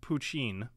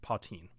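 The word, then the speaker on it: poitín: I've seen it pronounced Poutine, and that's how I've been saying it up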